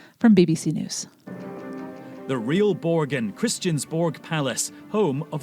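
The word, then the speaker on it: Borgen: the Supreme Court here is how to properly pronounce it from BBC News the real borgan Christian Borg Palace home of the Danish Parliament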